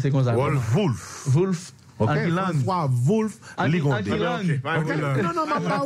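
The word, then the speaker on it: Wolff: Ça prononce comme ça. Wolf.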